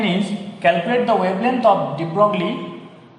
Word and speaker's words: Broglie: The question given is, calculate the wavelength of Broglie. The actual pronunciation is Broglie matter wave associated with.